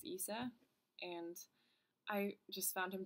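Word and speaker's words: Issa: I think his name is pronounced Isa, and I just found him to be so funny.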